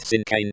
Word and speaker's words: cinquain: Compact and loaded with descriptive words since when pronounced sincane is a rhymed poem consisting of five lines